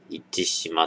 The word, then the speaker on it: 市島: 市って書いて、市島って読ませるやつなんですけど。